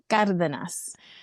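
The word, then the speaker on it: Cárdenas: say it so they know exactly how to pronounce it. Okayas.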